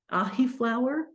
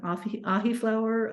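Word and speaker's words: Ahiflower: So you can have an ahi flower. How do you spell that? I've never heard of that. It's like ahi tuna, AHI.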